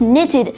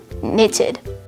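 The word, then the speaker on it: nitid: Once again, today's word of the day is knitted, spelled N-I-T-I-D, knitted.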